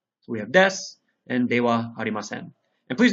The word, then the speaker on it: desu: is being used as a particle so we pronounce it as W so we have Des and de Haren and please notice the pronunciation